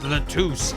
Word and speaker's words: Latouche: Lettuce. Tell me, who was the witness? The witness is Siren. It's pronounced Latouche.